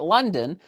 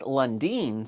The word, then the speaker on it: Lundin: And if you guys have noticed in the last video, I started calling it Lundin because I've been calling it London. Apparently it's Lundin.